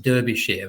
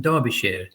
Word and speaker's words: Derbyshire: If you would look at it, you'd probably think it's pronounced Derbyshire, but Derbyshire.